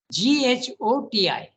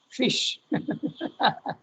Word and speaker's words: ghoti: GHOTI, okay? GHOTI. How will you pronounce it? Ghoti, no? But he says no, it has to be pronounced fish.